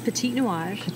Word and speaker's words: Petit Nuage: Pronounce it for me again because I'm terrible at pronunciation. This is Petit Nuage, which means little cloud in French.